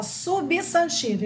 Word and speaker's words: substantivo: Aí você vai escrever aqui, ó, substantivo, igual está aqui no slide. O primeiro B é mudo, tá?